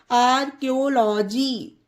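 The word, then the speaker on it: archaeology: एच ए ई ओ एल ओ जी वाई आर्कोलॉजी ठीक है friends इसमें देखिए सी वर्ल्ड के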